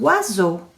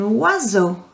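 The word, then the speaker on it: oiseau: we worked on pronunciations we learned about o and i together making a one sound are you ready for this one and wazzo and wazzo repeat after me and wazzo which is a bird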